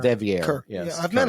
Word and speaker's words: De Vere: And did I mispronounce his name? De Vere. De Vere.